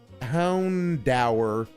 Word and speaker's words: Houndour: Like he doesn't understand that Houndour is supposed to be pronounced like the adjective dour.